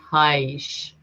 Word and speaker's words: Haisch: Bernie's German, so his last name is pronounced Haisch.